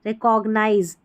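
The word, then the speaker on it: recognize: रे पढ़ेंगे रे कॉग सी ओ जी कॉग्नाइज रिकॉग्नाइज रिकॉग्नाइज रिकॉग्नाइज या रिकॉग्नाइज़ दोनों तरीके से आप प्रोनाउंस कर लें एन आई जेड ई को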